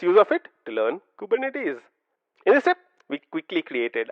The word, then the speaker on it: Kubernetes: interesting fact is the fact that kubernetes is pronounced Ed as kubernetes kubernetes kubernetes say that a few times practice this a